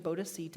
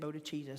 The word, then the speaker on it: bodhicitta: I'm going to try to say it right this time, bodhicitta. In my own defense, I found a pronunciation of bodhicitta and bodhicitta, so there.